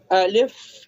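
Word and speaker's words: ألف: So Alif, it's A-L-I-F. Alif. Ba, it's Pronouncing place. B-A-A. Alif pronouncing place, which empty from your mouth, empty side from your mouth. Alif. From the throat.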